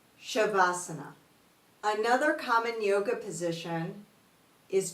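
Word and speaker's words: Savasana: VA which means corpse there's no H but we pronounce it as though it does have an h shavasana another common yoga position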